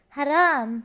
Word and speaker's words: haram: But you say it like this. Haram.